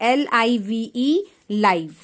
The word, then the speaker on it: live: L-I-V-E, लाइव. Okay, spelling same, pronunciation different, meaning also different.